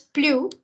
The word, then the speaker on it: plus: But we pronounce plus when you're doing a comparison. Dans une comparaison, quand l'adjectif qui suit commence par une consonne.